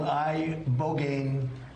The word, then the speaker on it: ibogaine: In 2024 study from Stanford University, 30 special operation veterans with traumatic brain injuries underwent, it's called ibogaine treatment, ibogaine. Remember the name. Is that pronounced relatively properly, would you say?